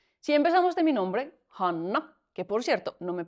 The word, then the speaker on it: Hanna: Hanna, no se pronuncia han en fines, esa doble n es una n muy larga, hanna.